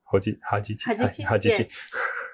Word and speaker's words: Hajichi: Hajichi.